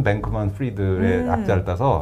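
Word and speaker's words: Fried: 그리고 아까 말씀드린 대로 이 FTX의 CEO는 샘 뱅크맨 그러니까 프리드. 그러니까 프라이드라고 써놓고 프리드라고 읽더라고요.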